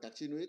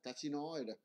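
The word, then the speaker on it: carcinoid: Tiếng Pháp đọc là Cacinuit, tiếng Anh là Cacinoid.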